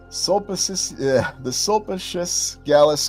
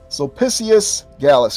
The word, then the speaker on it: Sulpicius Gallus: The Sulpicius Gallus crater. I'm not pronouncing it properly. Give me 1 second here. Sulpicius Gallus crater. There we go. Had to switch into Latin mode there.